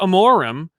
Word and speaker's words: Amorim: And Amorim says, it's pronounced Amorim.